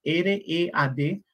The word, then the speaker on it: read: y en el pasado r e a d pero se en el presente se pronuncia read en el pasado se pronuncia igual que el color rojo en inglés que es hubieron varios